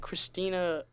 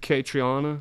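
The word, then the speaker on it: Caitriona: what's her name how do you say it Christina Christina how do you say it katriana katriana and we may be yeah whatever but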